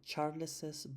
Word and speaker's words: Charles's: termina en S, entonces yo diría Charles's bike. Es decir, yo me invento una E que no existe y digo Charles's bike. Pero si yo quiero decirlo sin la S, yo digo Charles bike y me apalanco en la misma S de Charles y no tengo que pronunciar doble S como en este caso.